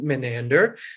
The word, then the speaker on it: Menander: I could be sounding really dumb right now, but as far as I know, it's pronounced Menander, who was a playwright in